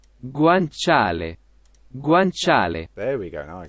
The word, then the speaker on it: guanciale: heard that then nice but i didn't guanciale guancha guanciale guanciale there we go now i can hear it guanciale is pig cheek by the way oh uh